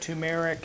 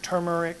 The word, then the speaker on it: turmeric: and you see this uh you know we pronounce this different ways we call it tumeric it's it's actually got a an r in there i don't know turmeric turmeric you hear some people pronounce it turmeric